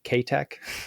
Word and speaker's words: Keitech: Kek, that's how you actually pronounce it.